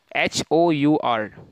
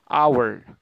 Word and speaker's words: hour: last one that is the pronunciation of the word h-o-u-r people pronounce r r i would say that uh it is better if you say hour hour one hour two hours three hours